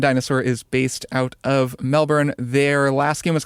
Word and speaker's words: Melbourne: out of Melbourne called I should say Melbourne. Melbourne. I get crap about how I pronounce Melbourne. I think some Australians get weird about it. Um an Australian indie studio, they say Melbourne but I'm not going to do that cuz I don't have an Australian accent.